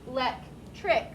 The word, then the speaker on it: electric: the word electric electric it's only electricity if it has i t y because this i helps to make this c a soft c and then that's also extra syllables but e let trick has no letter to make it a soft c and there's no extra syllable do not ignore when